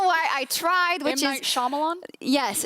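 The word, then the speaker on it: Shyamalan: that's some sham like twist I can never pronounce it I don't know why I tried which is shamalan yes shamalan there you go uh it was never me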